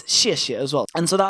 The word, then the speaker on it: 谢谢: which is the letters we can recognize it's pronounced xie xie xie xie and note here how Chinese repeats